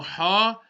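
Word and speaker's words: ح: The letter ha will be pronounced from the middle of the throat. So you might have to just squeeze the throat slightly just to get the ha properly. Now if you're wearing glasses, it's much easier.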